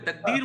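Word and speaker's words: तक़दीर: तकदीर उर्दू प्रोनाउंसिएशन। उर्दू है, तकदीर वर्ड नहीं है, तकदीर है, काफ लगता है।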